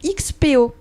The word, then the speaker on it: XPO: Donc XPO, est-ce que je le prononce bien ? Alors nous on dit plutôt Expo pour expérience des possibles, mais XPO c'est très bien aussi.